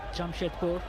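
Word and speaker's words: Jamshedpur: Jam Shedpur.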